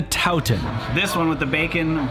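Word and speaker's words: toutin: Wait, how did I just pronounce it? No, dootin', it's a tootin'. No, it's a Towton.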